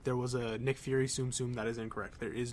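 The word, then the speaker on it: Tsum Tsum: anyway I know that the official Disney pronunciation is tsumtsum not too soon too soon soon soon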